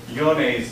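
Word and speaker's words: Johne's: a disease that was named for a German scientist so that's pronounced yon's disease not John's disease yon's disease is a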